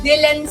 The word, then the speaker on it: DLN: kung ano po ang Dylan Skin. So ang spelling po niya ay DLN pero pronounced as Dylan po siya.